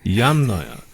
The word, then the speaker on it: Yamnaya: off for putting the emphasis on the wrong Yamnaya, syllable. yes. Yamnaya.